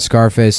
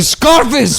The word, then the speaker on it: Scarface: I was laughing about Scarface I like to pronounce the name of that movie uh like you would the word surface so it's Scarface Scarface